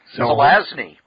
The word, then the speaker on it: Zelazny: Zelazny.